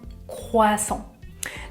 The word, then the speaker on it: croissant: en France c'est un croissant un croissant attention à la prononciation je ne prononce pas le "t" à la fin un croissant deuxième viennoiserie que vous